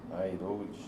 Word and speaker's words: Airoldi: Airoldi. É como se fala.